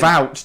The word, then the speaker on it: Wout: Wout, that's awful. 1 syllable.